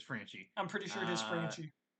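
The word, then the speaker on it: Franchy: I'm going with uh I think this is correct pronunciation Frankie Cordero France Yankees franchi okay it is franchi I'm pretty sure it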